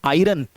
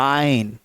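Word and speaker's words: iron: इसके बाद आता है पांचवा, जिसको हम लोग पढ़ते हैं आयरन, लेकिन सही वर्ड है इसको हम लोग पढ़ते हैं आयन। बहुत हल्की सी आर की आवाज निकलेगी, आयन।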